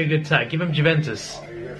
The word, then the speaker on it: Juventus: good attack give him Juventus Juventus that's how you pronounce it sorry by Munich